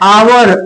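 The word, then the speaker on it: hour: यहां पे एच से शुरू हो रहा है आवर, बट इसका जो उच्चारण है क्या है? आवर, आ से शुरू होता है, इसलिए इसको क्या लिखेंगे हम लोग?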